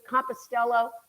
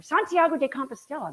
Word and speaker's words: Santiago de Compostela: 89 miles we got into compostelo to Santiago or Santiago de Compostela that's how you say it um there we